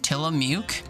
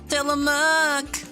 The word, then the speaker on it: Tillamook: Tillamook?